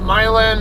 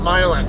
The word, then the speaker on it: Milan: up to Milan Missouri the locals call up Milan as I mentioned in my pickup video for this load and I told you in that video I'm not going to call up Milan it's uh I don't know why it got why the why the pronunciation got bastardized from Milan to Milan but the town was